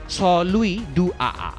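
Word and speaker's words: Saint-Louis-du-Ha! Ha!: ফরাসি প্রভাবিত এক মজার শহরের নাম সেইন্ট লুইস ডুহাহা। ফ্রেঞ্চ ভাষায় যার উচ্চারণ স লুই ডু আ।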